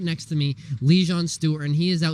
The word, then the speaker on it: Lejon: Number one thing I have to say, by the way, Lejon is spelled Lejon. And it can be pronounced Lejon. In Lejon in Sweden means lion. So okay, yeah, Lejon. It's pronounced Lejon.